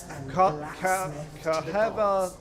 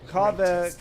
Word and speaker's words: Kaveh: Kaheva, they're pronouncing it weird, but Kaveh, goddess and blacksmith to the gods.